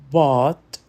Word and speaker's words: bought: Bought, thought, brought. Aqui o GH é mudo e o som é de um O longo e profundo.